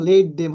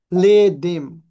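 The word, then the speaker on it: let them: আমরা আমি উচ্চারণ করছি লে হ্যাঁ এটা আপনারা যদি উচ্চারণ করেন লেম হবে কিন্তু উচ্চারণটা কি লেডিম লেডিম এটি উচ্চারণটা একটু মানে মি আকারে থাকবে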